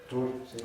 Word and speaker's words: Tours: Precisamente cerca de Poitiers, el futuro obispo de Tours, o no sé si se pronuncia Tours o cómo es. Tours, sí.